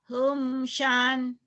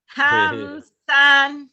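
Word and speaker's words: خمسا: Humshan. Humsan. Salah humsan mah. Humsan. Astagfirullahaladzim. Salah Bu ya. Dulu ya. Hamsan. Salah, bacanya salah. Hamsan. Hamsan gitu Bu.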